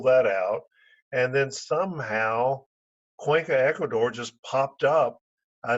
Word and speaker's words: Cuenca: We thought it was Sowensa instead of Cuenca, So and Wensa.